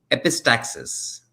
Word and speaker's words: epistaxis: You got to pronounce that one for me. It's Epi. epistaxis.